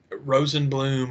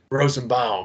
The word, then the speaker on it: Rosenbaum: again, bring back, I'm going to say his name wrong again, Michael Rosenblum or what? Rosenbaum.